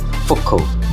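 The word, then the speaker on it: Foucault: for the french physicist's genes for code pronounced focal who first used it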